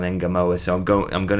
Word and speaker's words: Ngumoha: Now, just quickly on that, I toyed with different pronunciations of that last name andve I've done a lot of research on this. I've seen somebody pronounce it Namoa or Unmar when he was at Chelsea. I think they their commentator used that, but I think everybody now seems to have settled on Enamoa.